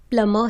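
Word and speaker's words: plumber: Students, Indian English में इसे प्लम्बर कहते हैं, जबकि ब्रिटिश और अमेरिकन इंग्लिश में इसे प्लम्बर ही कहा जाता है। बा साउंड को साइलेंट रखा जाता है।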